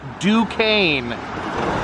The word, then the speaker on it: Duquesne: good view of Pittsburgh I was a little confused on how to pronounce that but apparently it is Duquesne somehow you can see the